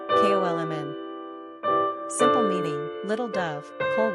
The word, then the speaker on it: Coleman: Pronunciation, Kolmn.